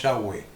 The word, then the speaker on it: Yahweh: Por eso nosotros le llamamos Yahweh, con W, y esa es la que nosotros hemos adoptado porque es la mayoritariamente aceptada como que haya sido la verdadera manera de pronunciarlo en la época de Moisés.